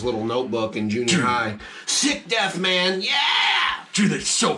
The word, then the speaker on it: Sicdeth: go for heavier songs like Sick Death, which that is spelled Sicdeth.